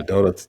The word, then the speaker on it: Dota: Dada. Yeah, Dota.